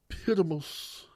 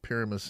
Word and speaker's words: Pyramus: And they're going to practice a play called Pyramus and Thisbe. I feel it's very important. You can't pronounce it Pyramus and Thisbe.